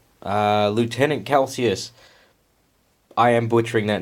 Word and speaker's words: Calsius: As discussed in issue 4, Lieutenant Calsius. I am butchering that name. Get over it. I'm not feeling well, guys. I will figure out how to pronounce that properly. Calcius.